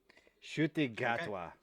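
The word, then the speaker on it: Ncuti Gatwa: So Shuti Gatwa. That's how you're supposed to apparently pronounce it.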